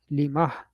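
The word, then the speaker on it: لمه: Just see that at the end, you just add an extra Ha for ease of pronunciation, whatever you can call it. So Limah, we just pronounce with the Ha there.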